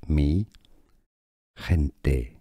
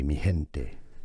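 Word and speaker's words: mi gente: originally meaning my people Mente is how it is pronounced in Spanish me kente M you could also pronounce it as if you cannot pronounce Spanish perfectly replace the sound the G sound from with an H sound and say miente here are more videos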